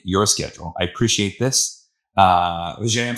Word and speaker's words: Vijay: Vijay, I'm saying it right?